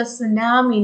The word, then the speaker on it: tsunami: it is pronounced a tsunami not just nami the t is silent so but if you